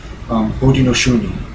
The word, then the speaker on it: Haudenosaunee: In their own native language, they were known as Haudenosaunee, it's pronounced. Haudenosaunee, or it roughly translates into English, the people of the Longhouse, because of their long houses.